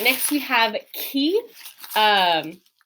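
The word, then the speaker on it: chi: this is another one where we, as English speakers, often want to make this a ch sound with that ch, but this is more of a ch in English that we see in like the word chaos, where it's that aspirated c. It's the k sound with the h sound after it.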